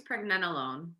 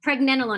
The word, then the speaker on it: pregnenolone: I think it's pregnenolone. Pregnenolone. I was like skipping a syllable there.